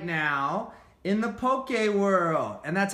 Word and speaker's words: Poke: such a huge craze right now in the Pope gay world and that's how you pronounce it by the way there's no little